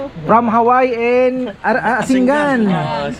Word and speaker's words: Asingan: from Hawaii and Asinggan ano Asingan ang pronunciation ano opo Asinggan Ilocos